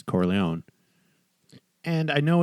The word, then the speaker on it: Corleone: fact that he always clearly intentionally mispronounces cora leone just to tick off michael and show that he doesn't care even though you can tell he knows okay you know it's corleone and i know it's